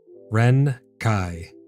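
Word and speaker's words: Ren'Kai: We have the Renai. Ren Kai. Yep, I think that's how it's pronounced.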